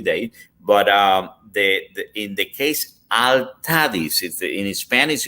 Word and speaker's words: Altadis: they came out with Altadis. So in Spanish it's Altadis. In English, because of the accents, Altadis.